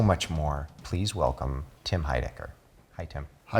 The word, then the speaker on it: Heidecker: I learned a tip, in case you can remember this, for my own name, which was weird to have someone give me a tip on how to help people pronounce my name, but imagine I have a small chin. And I said this small chin, David, this small chin.